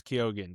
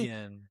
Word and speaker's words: Keoghan: All right, I always thought it was Keegan. But apparently, the actual Irish pronunciation is with the G and the H is supposed to make the G silent. It's supposed to be Keoghan or something like that.